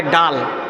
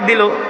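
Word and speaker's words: دال: আমরা বলি দাল। ওরা বলে ডাল। এক মাদ্রাসায় পড়াইতে গেছি বলি দাল। ডাল উচ্চারণ করতে পারে না।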